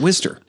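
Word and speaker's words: Wooster: And if you live there, you pronounce it Worcester.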